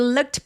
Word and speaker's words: looked: 자, it looked look처럼 k로 끝나는 성대가 울리지 않는 소리로 동사 원형이 끝나게 되면이 D가 내 눈에 보여도요 통째로 어떻게 발음해요? 얘는 트로 발음을 합니다. 똑같이 무성음으로요. 그래서 looked. 근데 여러분 입술 내밀어서 looked 아니에요.